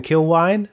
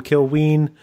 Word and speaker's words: Kilwien: gonna talk to Preston kill wine first year defender I've been saying his name wrong for weeks everyone I'm sorry most to him but to everyone else I've been call him kill ween forgive me you can